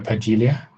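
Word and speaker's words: Pagilha: So, but you stay with the J sound though. Yeah, as a spell there is no J, but just on the phonetical one, as you think, yeah, Pagilia, yeah. Because we pronounce the D in a kind of G, kind of J way in Portuguese.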